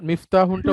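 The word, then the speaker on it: مفتاحٌ: হ্যাঁ বলেন, মিফতাহুনটা উচ্চারণ করুন। হাজা মিফতাহুন, এটি একটি চাবি। না, মিফতাহুন, হ্যাঁ মিফতাহুন, এরকম তাতে তাটা লম্বা করে বলতে বলতে হবে, মিফতাহুন, হ্যাঁ।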